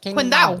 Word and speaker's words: Qingdao: You pronounce it Qingdao.